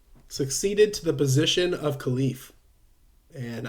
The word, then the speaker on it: khalif: to the position of khalif and i know it's khalif i usually say calif sorry again if i